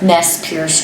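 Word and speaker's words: Nez Perce: Nest Pierce Tribe. Nest Pierce. Nespur Stribe. Yes. Spell that.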